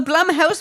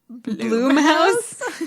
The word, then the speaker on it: Blumhouse: hulu it is a plum house production it's pronounced bloom house um i'm sorry i'm